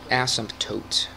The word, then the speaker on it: asymptote: Asymptote. Okay, sounds weird to kind of put the P in there, but I guess that's how you say it.